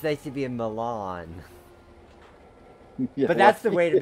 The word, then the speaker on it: Milan: for the proper pronunciation I've been saying Mylon for like many years just goes to show we're all learning something new on great train layouts live we're learning everything from train that design to Iowa pronunciations so all the natives around Milan say Milan nobody says Mylon okay Milan which makes